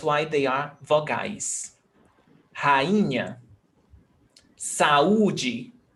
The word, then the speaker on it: saúde: Saúde. You listen very clearly. Saúde. It's not saúde.